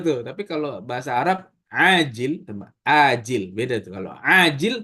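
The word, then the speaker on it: عاجل: Yang pertama pakai ain, ajil, yang kedua pakai hamzah, ajil.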